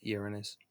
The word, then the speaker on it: Uranus: planet and Uranus and try to pronounce it like that Uranus that's the way you pronounce it so the Earth is